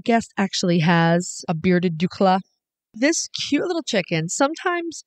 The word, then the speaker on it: d'Uccle: And I pronounce it D'Uccle. Yes, you do. But hey, it's okay. We all say it a little different.